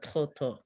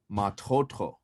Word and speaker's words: tļotļó: I don't know if you've noticed it or not, you guys, but when we pronounce tļotļó, we pronounce the stress or the emphasis as on the second syllable.